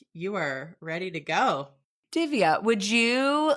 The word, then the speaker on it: Divya: If my mother would be like, teach the American people how to say the soft D. And so if you are a soft D person, you can say Divya. You can say it either way you want.